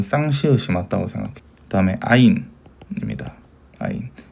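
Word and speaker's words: עין: 아인 눈 할 때도 아인이랑 발음을 가시는데 아인입니다.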